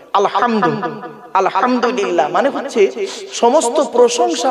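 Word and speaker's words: الحمد: আলহামদুলিল্লাহি রাব্বিল আলামিন আলহামদু এই গলার ভেতর থেকে এটা উচ্চারণ করবেন আলহামদু আলহামদুলিল্লাহ মানে হচ্ছে সমস্ত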